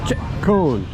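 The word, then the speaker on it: Chợ Cồn: my land lady and she said it's ch cone CH cone they won't understand you unless you say CH cone even though it's spelled c h o c o n CH cone let me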